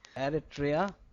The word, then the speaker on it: Eritrea: Eritrea.